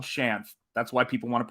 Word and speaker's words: Shanth: It is Shanth. So that's how it's pronounced.